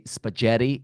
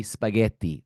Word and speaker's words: spaghetti: I said incorrectly because you don't say spagetti you say spaghetti right so the thing